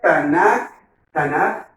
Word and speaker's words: Tanaj: Se pronuncia Tanaj, porque esta letra Kav, cuando está al final de una palabra se suaviza, y no suena Tanaj, sino Tanaj.